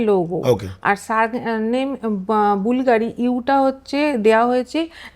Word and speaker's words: Bvlgari: হচ্ছে logo actually হ্যা Latin ভাবে ভিটা লোগো উচ্চারণ হবে বি এল জি আর আই কিন্তু উনার নাম হচ্ছে স্যার নাম হচ্ছে বুলগাড়ি কেউ কেউ অনেকে বলে না ভালগাড়ারি হবে কেউ বুলগাড়ি হলে এগুলো কনফিউজ কিন্তু এর পিছনে হিস্ট্রিটা